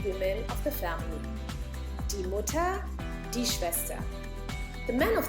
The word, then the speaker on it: Mutter: In German, you would say Mutter. Mutter. Die Mutter. Here again, the pronunciation is Mutter. Not Mutter, but Mutter. Just like Bruder or Schwester.